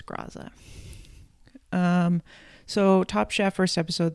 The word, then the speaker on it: Graza: And yes, they do pronounce it Graza, not Grazza. So I'm wrong about that. It's Graza.